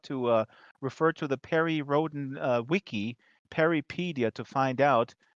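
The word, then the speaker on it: Perry Rhodan: today we're talking about Perry Rhoden or as it is correctly pronounced periodan because it's a German operation there are some Americans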